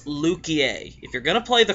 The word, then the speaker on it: Luquier: going to say something it's not liqueur it's not Le queer it's lukier if you're gonna play